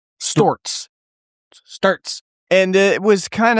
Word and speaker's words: Stewart's: Adirondacks, you would know it's pronounced Storts.